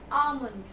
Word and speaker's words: almond: almond it's not almond here again L is silent L is silence so it will you will you will say this word correct pronunciation as almond I'm eating few almonds